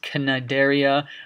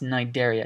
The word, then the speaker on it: Cnidaria: that i forgot to mention this is not pronounced Kanade area or Synod area this is just pronounced in Nigeria it's a Greek word the sea is silent